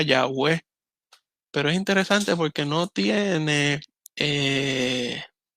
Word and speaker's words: Yahweh: Una tal vez pronunciación más real sería Yahweh, pero es interesante porque